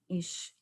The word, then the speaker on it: ich: familiar we studied dialects the word ich i the berliners pronounce it ik those from frankfurt on mine ish those from schwab he